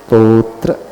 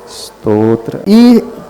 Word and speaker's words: स्तोत्र: आगे उच्चारण है अच्छा-अच्छा आधा समय जब स्व बोलते तो यह जाता है कि साइलेंट कर लो सही तरीका है कि तोत्र स्तोत्र पहले बोलना अ हैं इन्हीं बोलना